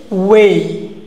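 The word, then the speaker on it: weigh: দেখো এক্সাম্পলগুলো, হ্যাঁ এখানে দেখো আমাদের ওয়ে, কিটা ওয়ে, কারণ কি EIGH একসাথে হয়েছে, কি হয়েছে EIGH আমাদের একসাথে হয়েছে, এই জন্য কী হয়েছে সেটা এই সাউন্ড করেছে।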